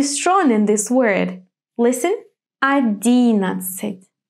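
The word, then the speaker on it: одиннадцать: Yes, the strong or the stressed syllable will be D. That's why our O will be pronounced as A. And what about the final A, the A at the end of the word? It will not be stressed either, so it will be pronounced in a weak way. 11. I don't say A, I say kind of E very fast. 11, maybe closer to I.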